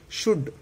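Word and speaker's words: should: शुड शुड एल का कोई यूज़ नहीं है।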